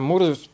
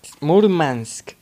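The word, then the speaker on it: Мурманск: y llegamos a muros a muros mal múrmansk correcto así se pronuncia llegamos por fin aquí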